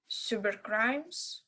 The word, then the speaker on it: cybercrimes: First pronounce S. because because before Y and second C pronounce K. Yes. K because before other letters. Right. Yes. And here we can see before R.